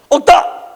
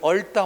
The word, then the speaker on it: 얽다: 억다! 뭐라고 한다? 자체? 억다. 억다라고 한다고. 억다. 억다라고 발음을 해야 된다고. 이걸 얽다 하면 틀려.